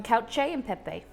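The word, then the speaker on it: cacio e pepe: It's called how do you pronounce it, Molly? Cacio and pepe. It's called cacio and pepe. Something like that, yeah.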